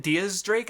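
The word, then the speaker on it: X Drake: so apparently a Drake you pronounce it Diaz Drake I think it's because it's spelled with an X because X is tenth the removal 10 which is the Spanish number Diaz I guess is how it's a little I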